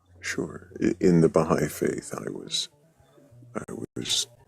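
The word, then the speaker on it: Baháʼí: the right way to say that actually bahigh okay bahigh you could preserve one or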